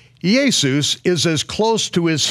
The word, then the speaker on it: Jesus: why yeah in 1611 the name now spelled jesus j esus was pronounced as yesus the same as when